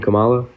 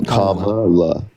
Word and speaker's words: Kamala: Trum by the way Kamala is that not how you say her name Camala no Kamala just you could just say